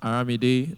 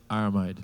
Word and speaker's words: Aramide: Aramide is pronounced Aramide, but you can simply call it Aramide.